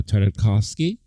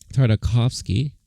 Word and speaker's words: Tartakovsky: was helmed by famed animator um gandhi uh tartakovsky tartakovsky um i always want to make sure i